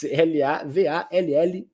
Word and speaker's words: Lavalleja: pronunciar, Lavalleja, essa letra L-A-V-A-L-L-E-J-A, então a pronúncia rioplatense seria Juan Antonio Lavalleja, mas enfim, nome difícil.